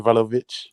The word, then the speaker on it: Vlahovic: Vlahovic.